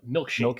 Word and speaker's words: Milchick: Yeah, I think you're saying his name wrong though. It's a milkshake Milkshake, yes, milkshake.